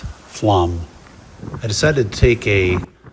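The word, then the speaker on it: Flåm: Flem, pronounced Flam.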